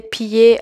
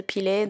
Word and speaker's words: piler: Je suis désolée, à ce moment-là, j'ai prononcé 3 fois mal le mot piler. Donc je disais piller à la place de piler.